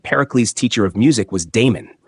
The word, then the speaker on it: Damon: teacher of music was Damon the first syllable of this name they say should be pronounced short Aristotle however maintains that